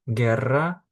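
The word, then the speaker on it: guerra: Відповідно, в таких випадках ми літеру У не читаємо і вимовляємо ге гі. Наприклад, герра, гітар, щоб літера у читалась, над нею ставляться дві крапочки, які називаються крема в іспанській мові.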